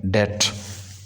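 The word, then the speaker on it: debt: अच्छा, next expression है हमारे पास, टू रन अप अ डेट। ये वर्ड जो है ना ये डेट है, ये बी लेटर साइलेंट है, टू रन अप अ डेट।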